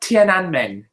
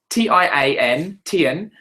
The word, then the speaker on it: Tiananmen: 1989 was the Exxon Valdez oil spill, and 1989 was the how do you pronounce that? Tiananmen. Tiananmen.